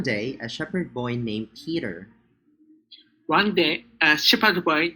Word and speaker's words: Peter: All right, so the first syllable, they have the same vowel letters, but their sound are actually different. Okay, so first syllable is E, but the other one is the schwa, R, her, her.